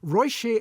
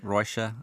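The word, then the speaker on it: Róise: there's another film called now I'm always very iffy about pronunciation of Irish names because the pronunciation Bears very little resemblance to the spelling but I'm going royi and Frank yeah I think that's correct I think Roa uh is how I've been saying it and that's a sweet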